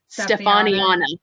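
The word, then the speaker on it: Stefanianna: Stefaniana. Oh my gosh, that extra A in there kills me every time.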